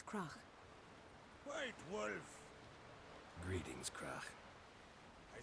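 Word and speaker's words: Crach: I feel bad for the voice actors that needed to say Krach. Because the sound at the end is so weird for English natives to say. It's easy for me because, well, I have this I have this sound in my language, like most of the sounds that exist.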